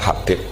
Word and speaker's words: Habib: Yang benar, oh enggak, yang benar itu bacanya Habib.